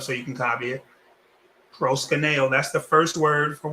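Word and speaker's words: προσκυνέω: Okay, so this word, the way you pronounce it, the root is proskuneo.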